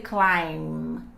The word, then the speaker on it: climb: good in this situation here we have a silent B okay so you not say climb you say climb forget about B here so I love climbing